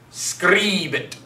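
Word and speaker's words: scribit: Make sure that I is long. That I is short. Short I. Long I. I. I. Scribe it. Scribe it is the pronunciation there.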